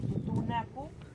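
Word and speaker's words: Tutunakú: l de los españoles la palabra totonaca era pronunciada Como tutunaku que su toponimia quiere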